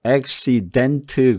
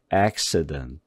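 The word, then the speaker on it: accident: x에 대한 할 때도 XY dent 그러지 않고 그러지 말고 이거를 중성모음으로다가 흘려보내야 돼요 그러니까 xedent 그러지 말고 acciden 이런 식으로다가 가볍게 이런 식으로 소리를 내요 자 이거 소리가 어떻게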